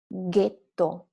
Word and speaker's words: ghetto: The third word, ghetto, G-H-E.